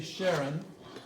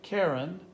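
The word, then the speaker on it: Charon: what it is now it's spelled CH AR and it's CH AR o N and some people say Sharon some people say Karen and some people say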